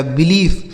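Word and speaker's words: belief: बी ई एल आई ई एफ, तो इसे क्या पढ़ेंगे, बी ई से दोस्तों हो जाता है बी, एल से हो जाता है ल, इस आई और ई का उच्चारण बड़ी की मात्रा, एफ से हो जाता है फ, लिखा गया बिलीफ, ठीक है, इसे पढ़ा जाएगा बिलीफ।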